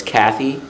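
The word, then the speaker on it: Käthe Kollwitz: I think she's German, so I could be mispronouncing her name. But it's Kathy, K-A-T-H-E, Kalowitz, K-O-L-L-W-I-T-Z.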